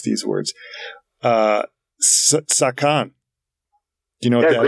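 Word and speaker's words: 左官: How about and again, I do not know how to pronounce these words. Sakan.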